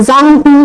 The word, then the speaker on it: Zhang Xu: 2040 from Italy, Professor Zhang Xu with a Zhang Hu উচ্চারণ হবে performed a surgery on a patient located 8,000 kilometer away in Beijing, China.